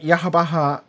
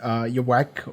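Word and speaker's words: Yhwach: And the reply was, you're supposed to pronounce it like you would the name of God.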